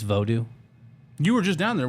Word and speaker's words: Vodou: It's not actually pronounced voodoo. It's Vodou.